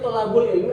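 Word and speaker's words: طلب العلم: di kalimat thaabul Ilmi ini kita bacanya tholabul Ilmi ada Alif situ ya maka dibaca tholabul Ilmi ini jadi makrifah ke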